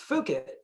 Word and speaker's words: Fukitt: The way we help with that, with the brand, like you mentioned before, even though it's pronounced Fukitt, it persuades you to say fuck it more without being offensive about it, right?